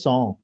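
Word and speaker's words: cent: ভাইয়া অথবা 100টা সং, 100টা কি সং, উচ্চারণটা সং। সং, টিটা নাই, বলার সময় টি নাই, সং, সং।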